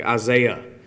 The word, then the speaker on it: Isaiah: does that make sense the h has no sound at the end of like uh i'm trying to think isaiah isaiah would would have a hay at the end but it doesn't make a sound it's actually being used